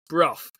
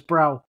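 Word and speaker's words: Brough: in a place that I want to pronounce Bruff uh but it's b r o u g h Steve anywhere close yeah yeah that's that's Bruff yeah it's not it's I've heard people in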